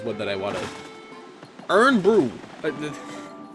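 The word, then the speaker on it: Irn-Bru: Earn Brew!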